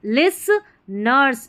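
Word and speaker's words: listeners: आई एस टी ई लिस nurse N ई आर S nurse लिस nurse लिस nurse तो यहां पर भी estimate T silent है तो लिस्ट नर्स नहीं बोलेंगे लिसन nurse लिसनर्स there there पढ़ेंगे टी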